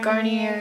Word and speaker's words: Garnier: No, I use Or the Garnier. Garnier. Why is it spelled like Garnier, but you say Garnier? Like, that seriously bothers me.